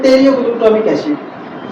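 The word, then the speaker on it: pteroylglutamic acid: होता है साथियों टेरो टेरियो ग्लटामिक एसिड तो इसमें हम टेलीमी क्यों बोल रहे हैं इसको क्योंकि इसमें पी साइलेंट है ठीक है जी तो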